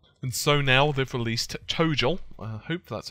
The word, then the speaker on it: ToGL: And so now they've released ToGL. I hope that's how you pronounce it.